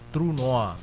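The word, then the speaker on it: trou noir: tulisannya tronoir ya, tapi karena dalam bahasa Prancis dibacanya trueoa yaitu kalau enggak salah tuh ya bacanya true noa.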